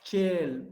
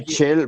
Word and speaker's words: Chel: Se dice Shell Bots. No, es Chel.